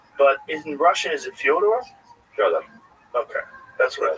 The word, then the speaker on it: Fyodor: I'm like, yeah, well, that's kind of the accepted American pronunciation of Fyodor, though. Right. So I wanted to ask you if it was Fyodor. Yeah, it is. I knew I was right. Right, but nobody calls it like that.